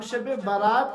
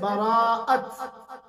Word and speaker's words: براءت: سادہ زبان میں ہم شب برات کہتے ہیں، ورنہ صحیح جو لفظ ہے براءت، شب براءت، اسی لیے عربی میں کہتے ہیں لیلۃ البراءہ، ہم اردو میں اور عام